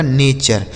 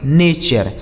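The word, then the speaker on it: nature: तो आपको ध्यान रखना है टी यू आर ई को चर पढ़ा जाता है।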